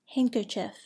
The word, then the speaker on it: handkerchief: Do not pronounce the D in the following words: adjective, adjust, handkerchief, handsome, sandwich, Wednesday.